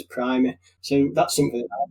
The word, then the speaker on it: Primer: So okay, basically, in American English, it seems to be pronounced Primer. Uh-huh. So perhaps that's why. But in British English, it's always going to be referred to as Primer.